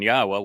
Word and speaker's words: Yahowah: and yada yawa uh even yawa which is the proper pronunciation that I introduced of